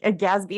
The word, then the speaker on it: GASB: you I had to Google gasp today yeah gasby is how you say it okay I say